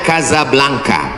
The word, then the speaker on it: Casablanca: Ibu kotanya tulisannya Casablanca. Cara bacanya Kazablanca. Kaza artinya rumah.